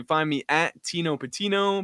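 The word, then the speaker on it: Pattigno: find me at Tino patino p a t TI I GN o the g is silent like Real G's and lasagna there so you can find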